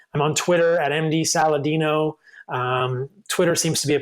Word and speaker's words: Saladino: My last name is spelled like Saladino, like salad and dinosaur. A little irony there, Saladino.